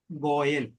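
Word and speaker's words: גואל: എന്നുള്ള വാക്കിന്റെ നൗൺ ആണ് ഗോയൽ ഗോയൽ നമുക്ക് ഹിന്ദിക്കാരുടെ ഇടയിലും ഉണ്ട് ഗോയൽ പക്ഷേ അത് ആ സ്പെല്ലിംഗ് അല്ല ഇത് പക്ഷേ ഉച്ചാരണം അതുതന്നെയാണ് എന്റെ വീണ്ടെടുപ്പുകാരൻ എന്ന് ഇയ്യോബ്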